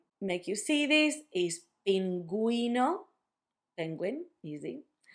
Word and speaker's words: pingüino: That's if you want for the U to have a sound when you have gegi.